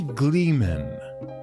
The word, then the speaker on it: gleeman: troubadour no jungler nay call me gleeman to rhyme with free man for i work for